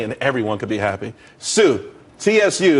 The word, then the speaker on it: Tsu: everyone could be happy Sue TSU it's pronounced Sue though that's a that's